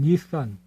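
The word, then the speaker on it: 日産: 그러니까 이것은 일산이란 일본 발음으로는 닛산.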